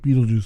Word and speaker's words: Beetlejuice: notably in the series the character's name is consistently pronounced as Beetle like Beetle Juice the way that we um we know it like Beetle like the animal and Juice like the drink so shifting away from